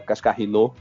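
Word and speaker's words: Cascarino: Eu sou muito fã da Cascarinô, para falar a pronúncia correta.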